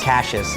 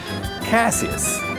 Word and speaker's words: Caseus: I like the Caseus because a lot of people will mispronounce it. So I've gotten people say Caseus or Caseus. Cassius is my favorite. Caseus.